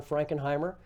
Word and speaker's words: Frankenheimer: watch there from John frankenheimer his name is spelled pretty much the way it sounds and we particularly recommend